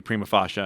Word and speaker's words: prima facie: again going back to Prima fasha and how that's the only way to pronounce it the that's the only